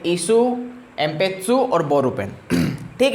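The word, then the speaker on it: 鉛筆: फिर आता है पेंसिल को बोलेंगे एन, देखो लिखा है एन पित्सु, पर इसको प्रोनाउंस करेंगे हम एम पित्सु, एम पित्सु, ठीक है।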